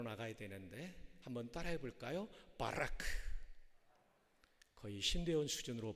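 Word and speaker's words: ברך: 조금 괄호가 밖으로 나가야 되는데 한번 따라해 볼까요 바라크 거의 신대운 수준으로 발음해 주셔서 고맙게 생각합니다이 바라크 동사는 세 가지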